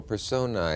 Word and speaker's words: personae: Well, imagine that I'm holding up a book with sexual personae. Is that the right pronunciation? Sexual personae, yes.